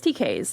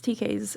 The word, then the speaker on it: TK's: so they opened TK's how do you say it it's TK's fruit produce and bubble tea or or produce smoothies and bubble tea or similar but it's decays its decays and they do amazing